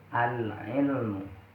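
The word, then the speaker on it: العلم: Di sini cara bacanya al-nya terang atau jelas. Al-ilmu. Al-ilmu. Al-nya jelas. Kenapa kok jelas? Karena di sini dinamakan al-qamariyah. Kenapa kok dinamakan al-qamariyah? Karena al bertemu dengan ain.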